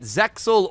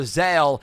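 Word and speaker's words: ZEXAL: Is it Zeil or Zale? And the actual answer is both are correct. It really depends on which version you're watching. If you're watching the original version, the X actually is silent.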